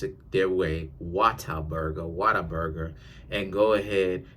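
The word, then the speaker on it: Whataburger: go down the Water Burger shout outs to waterburger I just made you some more money they can't go down to waterburger and and and or oh let me pronounce it their way wat Burger Water Burger and go ahead and get themselves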